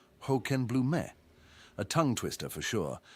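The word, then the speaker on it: Hochenblume: challenge of German pronunciation hoken Bloom would be pronounced as hoken Blum a tongue twister for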